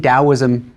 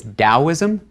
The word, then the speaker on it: Daoism: There are two romaniz romanization systems for Chinese. So in older books, you may have seen daoism spelled with a t at the beginning. In newer books, you'll see it with a d. Similarly, laza used to be spelled with a tzu at the end and now it's a zi at the end.